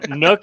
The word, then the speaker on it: Nook: No, Nook is not pronounced the same as nuke.